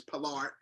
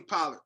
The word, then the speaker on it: Pollard: uh pronunciation and cap and Cap's way of uh speaking is palard but most people say a lot of people say Tony pilot so we're going to